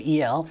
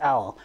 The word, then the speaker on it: El: move yeah they put e-l and they put el it's actually pronounced l uh it's it's a